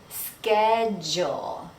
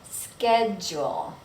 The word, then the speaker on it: schedule: So if you're in the US, you want to notice that we say schedule. The CH sounds like a K, ske, and then the DU sounds like jewel, schedule.